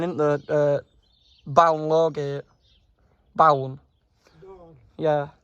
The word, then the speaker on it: Balne: Born. Yeah. It's pronounced Born.